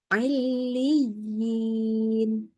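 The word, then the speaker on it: عليين: Ailiyin. Jadi harus ditekan di ya tasydidnya. Ailiyin.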